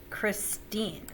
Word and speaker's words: Christine: accented hear the difference same thing with my middle name christine what is the non-iambic version of christine kristen you hear the difference christine has the second syllable accented kristin has the first all right here's the